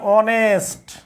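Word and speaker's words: honest: হয় তাহলে এ হবে এইচ এর উচ্চারণ যদি অ হয় তাহলে এন হবে এবার বলেন তো প্রিয় ভাইয়েরা হোটেল হোটেল তারপর হচ্ছে আওয়ার এরপর হচ্ছে অনেস্ট ঠিক আছে হোটেল হোটেল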